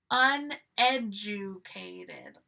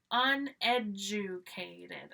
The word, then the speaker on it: uneducated: Uneducated. Uneducated. Again, 5. The DU here, we're pronouncing like Jew.